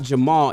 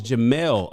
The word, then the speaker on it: Jamal: the house oh j he says it's not jamal it's jamelle oh my how's it jamal and there's no